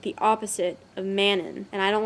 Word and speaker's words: Manon: for mannon which Manon people are saying it's Manon how are you supposed to pronounce how are you supposed to pronounce that that doesn't just roll off the tongue Manon rolls off the tongue the people in the podcast they had a strong emphasis on the on when they would say it so they